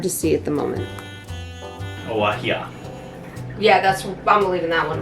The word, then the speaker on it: guajillo: Alright, so the G and the J both produce an H sound, but when it's at the beginning, it has more of a W base to it, so it goes wah.